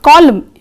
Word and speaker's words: column: In the word autumn, also in the word column, see, N is silent there.